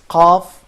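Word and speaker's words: ق: and I would keep saying that is qaf is an emphatic sound, kaf it's not in this way.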